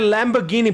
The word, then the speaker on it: Lamborghini: yeah but you said it wrong Lady it's Lamborghini power power now obviously because I already did